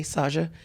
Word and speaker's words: Saja: It's Saja, but it's pronounced with a little softer J, Saja. And Saja.